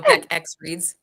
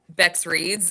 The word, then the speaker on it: Bex Reads: Every time you say my channel name, you say it wrong. I know Beck X reads.